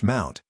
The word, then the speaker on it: mnt: in the file system the directory MNT pronounced Mount is a standard location